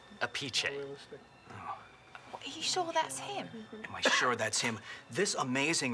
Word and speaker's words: Appice: it was like pronounced apathy or something like that technically if it's the Italian pronunciation it's a peachy sure that's him this